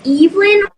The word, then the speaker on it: Evelyn: way uh yes um my name is pronounced Evelyn oh thank you that's